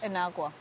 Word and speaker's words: Inagua: Inagua.